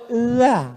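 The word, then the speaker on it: ذال: Bahasa Arab itu ada huruf za, ada huruf ja, ada huruf d, ada huruf dza. Dza. Letakkan ujung lidah di atas gigi. Atas gigi atas.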